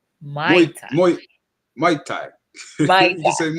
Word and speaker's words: Muay Thai: Um, Tell me the name of the Thai class again, Frankel, so I pronounce it correctly. Oh, that's Muay Thai. Mai Thai.